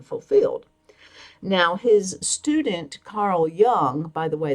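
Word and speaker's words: Jung: Now, his student Carl Young, by the way, that's J U N G, but it's pronounced as if it were a Y.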